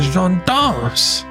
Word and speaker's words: gendarmes: The gendarmes!